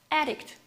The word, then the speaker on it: addict: As I told you before, noun has the first syllable stressed. And addict. It's a verb. As I told you before, the last syllable is stressed in the verb.